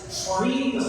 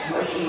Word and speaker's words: Schwerin: When you see it in print it doesn t look like that but he s assured me that Schwerin rhymes with tangerine .